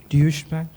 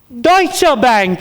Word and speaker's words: Deutsche Bank: Dish Bank. Deutsche Bank is correct. We will accept pronunciations.